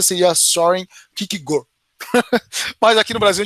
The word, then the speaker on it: Søren Kierkegaard: A pronúncia do nome dele mesmo, ele é dinamarquês, então a pronúncia do nome dele é meio complicada. Eu ouvi especialistas falarem que é Kierkegaard.